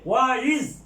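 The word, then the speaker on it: وَإِذْ: এই যে ওয়া ইজ, এই ইজ বানায় আলিফটা এটা হামজাতুল কতি, এটা সবসময় উচ্চারিত হবে। আগে একটা ওয়ার্ড থাকলেও এটা উচ্চারিত হবে ওয়া ইজ।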